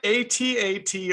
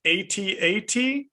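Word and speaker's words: AT-AT: empire strikes back and whether it should be correctly pronounced atat or at at in this movie the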